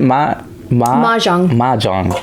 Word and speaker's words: Mahjong: Anyway, this how do you pronounce it? Mahjong.